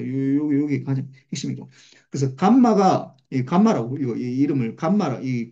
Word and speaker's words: 감마: 요게 가장 핵심이고 그래서 감마가이 감마라고 이거이 이름을 감마라이 그리스 문자인데 감마라고 읽고 감마 감마 감마로는데 이거